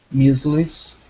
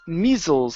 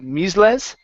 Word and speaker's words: measles: diseases such as m measles and mal malaria. Okay, nice job. Uh let's go to this word here. The word is measles instead of misles.